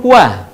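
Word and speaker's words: و: Selanjutnya adalah huruf wa atau waw. Diucapkan dengan indhimamus syafatain atau mengumpulkan dua bibir kita.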